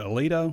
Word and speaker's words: Aledo: Yeah, Chris Johnson, he's out of is it Aledo? Is that how you say it? Aledo, Texas? Yeah. Aledo, Texas.